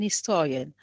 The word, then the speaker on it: historian: Now he's an historian. How many syllables do we have? Three. Three syllables. Three. Yes. And where is the Three stress? And where is the stress? The syllable before the suffix.